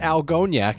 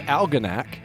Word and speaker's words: Algonac: names and mispronouncing them it's not algoniak it's algonac so thankfully i was